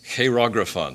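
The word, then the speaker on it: χειρόγραφον: is what was nailed to the cross is pronounced heirographon c-h-e-i-r-o-g-r-a-p-h-o-n now graphon you can see graphite or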